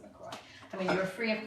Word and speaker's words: LaCroix: Some people call it LaCroix. I call it LaCroix because it's from the Midwest somewhere. And they said that's how you pronounce it. You pronounce it LaCroix.